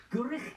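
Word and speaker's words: Gwrych: Our brand new gatehouse studio here in the magnificent Gurich Castle. That's how you say it.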